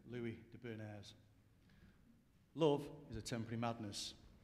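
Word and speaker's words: Louis de Bernières: Captain Corelli's mandolin, and according to Alexa, I pronounce it Louis de Bernays.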